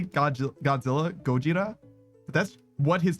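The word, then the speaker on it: ゴジラ: when they say Godzilla, Gojira, but that's what his name is. We just call him Godzilla, right? Like his name is literally the 3 syllables Gojira.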